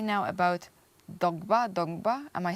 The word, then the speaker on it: Dongba: Let's talk right now about Dongba.